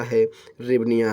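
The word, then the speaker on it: гривня: Ukraine की मुद्रा क्या है? रिवनिया है। ठीक है, इसे वैसे हेरविनिया कहते हैं लेकिन ऐसे एस साइलेंट हो जाता है इसलिए रिवनिया हो जाता है।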